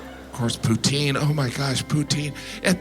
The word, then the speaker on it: poutine: smoothie it was delicious poutine I know some of you pronounce it Putin but you're still saying poo I love poutine and